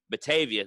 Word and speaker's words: Batavia: an area called or in a town called Batavia, or how do you say that? Batavia.